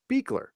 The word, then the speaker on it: Buechler: Thank You Nicole Pucci so my last name is pronounced beekler but it's spelled like it's pronounced buechler yeah it's I don't